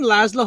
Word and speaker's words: Laszlo: The name Laszlo has always thrown me because the way it's pronounced, I always expect Z before S, but it's Laszlo.